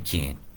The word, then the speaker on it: Cairns: And they're doing the can. AIR is pronounced air. And if I put a C in front of it, it should be Cairns, right? Cairns. But you like it being curled like that.